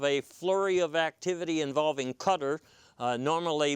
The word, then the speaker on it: Qatar: But after this was over, just in the papers the other day, you saw discussion of a flurry of activity involving Qatar, normally mispronounced as Qatar.